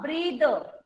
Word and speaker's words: breathe: The breathe. E is silent.